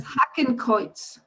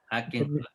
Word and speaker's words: Hakenkreuz: So I don't know how you pronounce. Does anybody speak German? Can you? Yes, Hakenkreuz. Hakenkreuz.